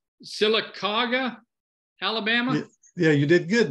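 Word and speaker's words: Sylacauga: lives in now tell me Ken while they're pronouncing this right silicoga Alabama yeah you did good there yeah silicon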